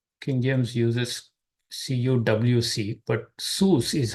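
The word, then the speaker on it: סוס: word is sus King James uses CWC but sus is how it is pronounced Within These curly braces I'm giving your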